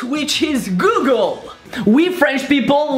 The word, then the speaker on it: Google: Well, basically because Google becomes Google. So it's like faire la gueule, with goo. Google.